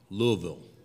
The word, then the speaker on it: Louisville: Well, we're excited to be in Louisville, and Louisville, right, I guess, is the correct way to pronounce it.